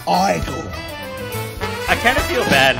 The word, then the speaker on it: Igor: You must be Igor. Nope. It's pronounced Igor.